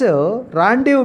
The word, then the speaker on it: rendezvous: A place, rendezvous means RENDEZ. This is the correct spelling. This is the Z. Rendezvous means RENDEZVOUS. Z is a silent, S is a silent.